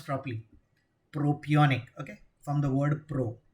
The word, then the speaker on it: propionic: Pronounce properly. Propionic.